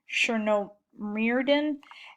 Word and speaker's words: Chernomyrdin: Hold on one second, because I practiced pronouncing these names. Okay, so in 1998, Yeltsin replaced Prime Minister Kiriyenko with Viktor Chernomyrdin.